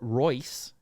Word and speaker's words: Reuss: Founded by Karl Kellner and Theodore Reuss, Rolls-Royce, perhaps. It's spelled R-E-U-S-S, and it's pronounced Royce.